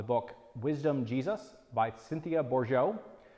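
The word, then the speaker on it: Bourgeault: by Cynthia bore Joe if you're looking at the Spelling you'll notice it's French so I really have no idea how the French pronunciation and spelling work together I just know that it's bore Joe and you can look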